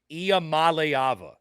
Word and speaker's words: Iamaleava: you for that one it's that Mal that gets me nio malava it's almost like you have to pronounce it in like three separate words either way Tennessee's got